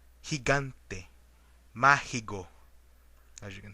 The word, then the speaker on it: gigante: Like an example of the word go, except when it precedes an I or E. In those cases, it is pronounced like the Spanish J. Examples: gordo, gritar, gigante.